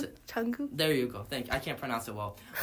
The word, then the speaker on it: Jungkook: Okay, how do you pronounce it? Jungkook.